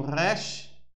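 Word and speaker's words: ר: Aí tem o resh, resh, resh, resh, resh. É como se falasse resh, resh, resh, resh. Porque tem o ret. Então, ele se pronuncia resh.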